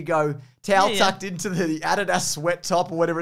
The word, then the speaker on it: Adidas: that's the gold standard in australia we say adidas we do because it's the correct way to say it it is isn't it